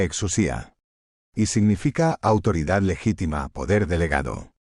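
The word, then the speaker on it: ἐξουσία: Exousía, que fonéticamente se pronuncia exusía, significa autoridad legítima, poder delegado, crío, J acento agudo, que se pronuncia j río y significa ungir con propósito divino.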